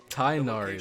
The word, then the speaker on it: Tighnari: When Tainari is in your party, Tainari, that's how you say it.